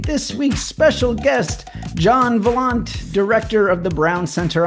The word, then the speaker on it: Valant: Anyway, so you say your name rhymes with nonchalant John Volant.